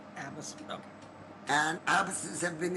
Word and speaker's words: Abbass: My Muslim students tell me that all the time, but I don't pronounce it Abbass. I pronounce it Abbass. Abbass.